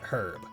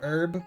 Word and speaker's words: herb: actually quite interesting because the way that Americans say herb is different than uh NEC da you could probably confirm this as far as I understand people across the pond call it herb with a like a prominent H instead of a silent one and apparently that's because